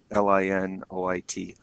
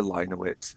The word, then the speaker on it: Linoit: I reference quite often is one called Linoit, Linoit, or Linoit. I mean, I've heard it pronounced both ways.